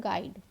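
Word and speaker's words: guide: पढ़ के देखिएगा, गाइड लिखा है तो यू का कोई भी प्रोनाउंसिएशन नहीं आ रहा है।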